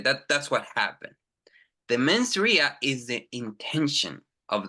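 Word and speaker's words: mens rea: two things actus Ria and men's Ria again pronunciation actus Ria ausia very good men's Ria men R very good so actus Ria is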